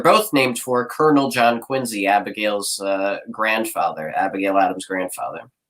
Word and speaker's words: Quincy: point out, is, yes, pronounced Quincy with a Z, like zipper or zoo. Not Quincy, it's Quincy.